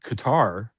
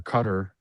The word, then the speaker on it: Qatar: right now in in in Qatar or Qatar I was I'm old school I pronounce it wrong but in Qatar There